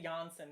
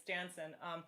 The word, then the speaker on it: Jansen: I always say Janssen, but it's Jansen, who mixed it, and Jamie engineered and edited it.